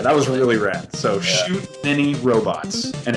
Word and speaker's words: Shoot Many Robots: was really rad so Shoot Many Robots and it's it's many like m n y not mini like Mi i n cuz whenever I say